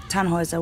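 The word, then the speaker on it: Tannhäuser: what's your name tanhauser we'd pronounce it tanjoyza with an umlaut german roots yes my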